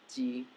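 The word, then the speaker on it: 机: The first one is Jeep, which sounds a lot like the Chinese word ji. And then the second part is the pronunciation. You remember the archetypes? Which one is the giant? The giant is first tone. And so since you have a giant G, you know it's the word G with first tone.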